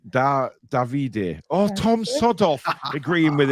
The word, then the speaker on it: Davide: Italian would indeed be Davide.